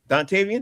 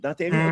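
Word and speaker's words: Dontayvion: Dantavian Dantavian, that's how you pronounce it. Dantavian.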